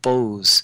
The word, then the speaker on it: Bose: worked with einstein and his name was satyandra bose b-o-s-e and he did a lot of work